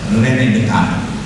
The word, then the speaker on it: René Descartes: kita sebut sebagai René Descartes, yang benar cara bacanya adalah René Descartes.